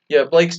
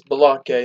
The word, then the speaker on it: Balake: So yes, Blake's name, I'll be trying to pronounce as Balake instead of Blake.